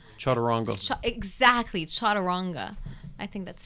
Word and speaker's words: chaturanga: My teacher, Jimmy Barkin, he's very American, so he would say chaturanga. Chaturanga. Exactly, chaturanga. I think that's funny. It's almost like Spanish, the way you have to pronounce the things.